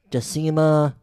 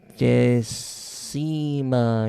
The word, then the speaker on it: Decima: Then Latin is like Spanish where there's no silent letters. You say everything okay. that's there. Then Decima, D-E-C-I. Say it again. D-E. Yeah, D-E. C-I-M-A.